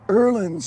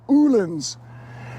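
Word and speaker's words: Öhlins: in here this is in English we'd say that's an olins in Swedish which is where they're made it's pronounced something like erlins or ulens and these are the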